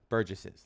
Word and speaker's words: burgesses: house of burger burger burst burger juice no burgesses that's how you pronounce it okay um this is mini parliament